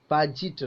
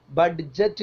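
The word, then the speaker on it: budget: അത് ഡി അല്ല okay adjourn എന്നാണ് മലയാളികൾ ഉച്ചരിക്കുക ബഡ്ജറ്റ് എന്നും ചിലപ്പോൾ മലയാളികൾ ഉച്ചരിക്കും ഇത് രണ്ടും തെറ്റാണ് ഒന്നാമത്തേത് എ ജേൺ ബാജിറ്റ് ബാജിറ്റ് എന്നാണ് ഉച്ചരിക്കേണ്ടത് ദി വേർഡ് ബി ഈസ്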